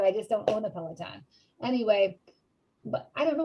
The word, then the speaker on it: Peloton: is or is it palatine i don't know how how you pronounce it is it peloton or palatine somebody correct me it is a peloton okay i'm so this